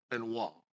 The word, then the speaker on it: Benoit: of all when I saw your name and wall and you pronounced that perfect see now so wait it's